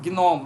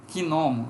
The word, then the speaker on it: gnomo: Em gnomo, nós temos a sílaba gin, gnomo, nós temos gei, né? Gnomo, seria um trissílabo.